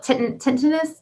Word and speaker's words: tinnitus: tinnitus, but it's called tinnitus. Tinnitus. Yeah, and Tinnitus? I used to call it tinnitus, and I was like, is it like Well, tinnitus? tinnitus is good too, like potato, but I always explain